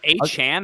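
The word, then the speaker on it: Achane: The fixing how I pronounced his name. So Is A Chan how you're supposed to say it? Devon A Chan.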